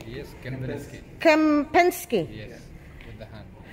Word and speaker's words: Kempinski: Kempinski? Yes, Kempinski.